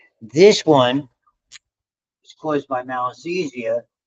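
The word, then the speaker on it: Malassezia: This is malisesia is how you pronounce that.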